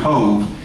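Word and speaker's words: Cobh: off the coast of Cove, C-O-B-H in the Gaelic is pronounced Cove, and it is the port for Cork in the southern part of Ireland.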